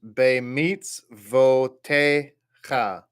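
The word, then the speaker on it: בְּמִצְוֹתֶיךָ: notice that second word, the last letter is a kaf sofit, and it has the little T sound there, like what makes an ah sound. So that word is bemitzvotecha.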